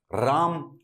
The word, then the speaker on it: राम: तो इसीलिए जब राम लिखा जाता है तो राम का मतलब है मां, तो ये मां प्लस अ है, ठीक है? Hence it is written as रामा, उसको प्रोनाउंस कर देते हैं। अगर असली में ये रामा होता, पीछे आ की मात्रा होती, तो इस ए